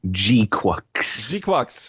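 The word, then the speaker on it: GQuuuuuuX: But mobile suit Gundam Gquux, which is now confirmed to be how you are supposed to pronounce that thing.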